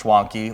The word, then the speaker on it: Schwanke: It's Schwanke. First of all, we got to get it right. Oh, it rhymes with donkey. Yeah, well, so as soon as I said it, my executive producer Maddie was like, "It's Schwanke like donkey." So Exactly.